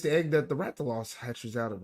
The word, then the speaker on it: Rathalos: But other than that, And it's just the Rathalos I what really mainly Zard, wanted. yeah, What? you pronounced it correctly.